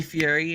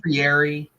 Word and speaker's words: Fieri: Isn't his name like Fieri, but it's spelled Fieri? It's Fieri. Fieri. Right. But I don't. One of those names that doesn't sound like it's spelled right.